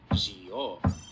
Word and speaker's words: Gio: That's how his katakana reads, Gio. And as we'll hear later, it's pronounced that way too. If it was pronounced with a Z, then we'd have this katakana and not G.